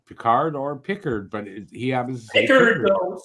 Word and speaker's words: Pickard: I don't know why I keep saying Peard.